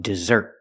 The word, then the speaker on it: dessert: Now let's talk about dessert. Put the stress on the second syllable.